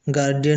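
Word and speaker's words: guardian: Silent रहता है गार्डियन गार्डियन में भी यू साइलेंट रहता है गारंटी उसी प्रकार गारंटी गारंटी ग्रंटिंग उसी प्रकार गारंटी ग्रंटिंग वर्ड भी इसी कैटेगरी में आते हैं।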